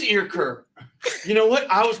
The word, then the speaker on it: Earker: is spelled differently well my name is not erica it's ear just like it's spelled it is ear curve you know what i